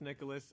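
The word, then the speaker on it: Nicalis: As there was an article about how the publisher Nicholas, and yes, it is pronounced Nicholas.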